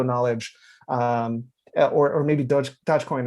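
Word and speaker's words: Dogecoin: um or or maybe dodgecoin at this uh point dutch coin uh whatever however it's pronounced um but doggy coin doggy coin there you go uh like like cuban puts it right um um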